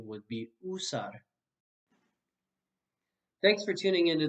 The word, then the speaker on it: usar: speakers speaking spanish will often say something like you saw this is a mistake because you always says ooh in spanish this letter will always say oops so the correct pronunciation would be usar thanks for tuning in to this video everyone